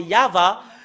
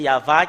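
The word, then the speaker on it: יהוה: voyons dans le chefer Torat des Juifs c'est yava et ça prouve très bien que voilà la vérité juste en haut qui euh confirme cette ce terme que c'est yava qui est le vrai Yav n'est pas dans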